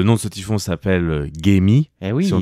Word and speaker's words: Gaemi: Mais souvent on en en occidental on va dire Gaemi parce qu'en fait ça s'écrit G A E M I mais le AE en coréen se prononce e.